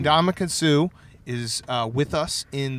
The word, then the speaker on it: Ndamukong: All right, we welcome on Ndamukong Suh. Can we just do like the first 5 minutes of us trying to pronounce your name?